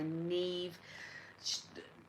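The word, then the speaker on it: Niamh: Currently reading Ordinary Saints by Neve Vone." None. Thank you. Jenny has put it. and I am obsessed. Now, Jenny has also said the author pronounced the name like that, like Neil, if anyone was wondering.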